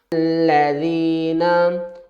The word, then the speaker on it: الذین: ہم کیا کریں گے، الف کے اوپر زبر اپنے پاس سے لگا لیں گے، الذین، اور لام کے اوپر تشدید ہے تو سختی بھی کریں گے، الذین۔ اس کے ہجے کس